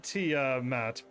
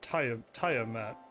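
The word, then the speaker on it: Tiamat: made it there no it's uh pronounced uh t uh matt and every voice pharmacy i've ever heard i i heard taya matt over and over and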